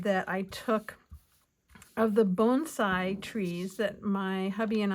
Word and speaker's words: bonsai: our own bonsai and believe it or not bonsai is the way you're supposed to pronounce it, not bonsai. So, I'm trying to uh be correct in my pronunciation even though it sounds a little different.